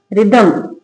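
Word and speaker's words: rhythm: रिदमम। क्या पढ़ेंगे? रिदमम। तो क्या रूल है? जब स्पेलिंग के शुरू में आर एच हो तो एच का साउंड नहीं आएगा।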